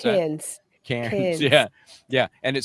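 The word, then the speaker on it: Cairns: How do you pronounce that? Cans.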